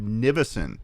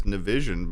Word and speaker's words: Nivison: It's my first and last name, Nivison. Looks like it says Nivision, but it's not how it's pronounced.